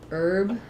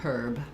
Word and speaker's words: herb: In American English, we say herb without the H. So we just say herb, or you could think about it this way, like in urban or suburban. British English, they'd say herb. American English, not, just herb.